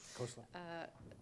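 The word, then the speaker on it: Khosla: John Willinsky is a professor of publishing studies at Simon Fraser University and the Kosla family professor. Did I pronounce that right? Yes, Kosla.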